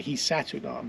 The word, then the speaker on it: Hisatsinom: we've now been asked to call it the hunam by their descendants how is it pronounced hunam okay so hunam is a Hy word meaning